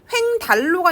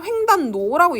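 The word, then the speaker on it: 횡단로: 횡달로가 아니라 횡단노라고 얘로 바뀌어요.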